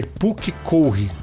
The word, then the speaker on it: Pukekohe: E eu demoro pra aprender que é Pukekohe. Eu falei errado aqui também. Não, é horrível acertar. Eu nunca acertei direito a pronúncia.